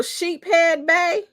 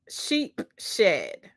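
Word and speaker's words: Sheepshead Bay: just putting the same oh sheep head Bay oh okay is that real or you guys just like having me look even crazier than what I sounded like when I try to pronounce it no sheep shed okay that's what lesle said thank you so much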